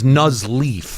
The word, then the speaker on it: Nuzleaf: well I was like the first syllable it's nuzleaf yeah nas leaf and he named the